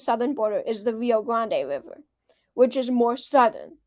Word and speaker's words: Grande: is at the Rio Grande. I know it's Grand, but I've always said Grande. That's what I've heard, so I'm sorry.